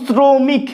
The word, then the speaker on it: শ্রমিক: শ্রমিক লেখার ক্ষেত্রে আমরা তালব্য স লিখি ঠিকই, কিন্তু শ্রমিক এইরকম ভাবে উচ্চারণ করি, সেক্ষেত্রে তালব্য সটা দন্ত সয় পরিণত হয়।